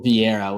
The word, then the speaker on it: Vieira: We got Rodolfo Vieira, which is definitely not pronounced with the R, but I struggle with those Brazilian names, taking on Andre Petroski.